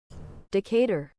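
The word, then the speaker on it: Decatur: just because I'm need to make sure I'm pronouncing it correctly decator say decator decator decator decator deor Saed think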